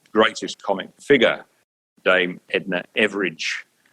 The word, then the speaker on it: Everage: comic figure, Dame Edna Everage. Everage, of course, being an Australian pronunciation of the word average, Dame Edna Everage, who lived down the road here in Moonee Ponds.